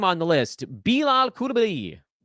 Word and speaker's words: Coulibaly: Fourth name on the list, Bilal Coulibaly. Worked very hard to make sure that we get that French pronunciation right.